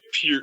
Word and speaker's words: Peart: Yeah, I mean the thing that strikes me with Neil Peart and Peart. Neil Peart. Everybody says it wrong. Yeah, Canadians say it Peart. Yeah, the Canadians say it right. Us Yankees say it wrong.